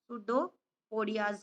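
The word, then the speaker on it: pseudopodia: है बेटा इसका शुडोपोडिया, पी साइलेंट है, सुडोपोडियाज के द्वारा।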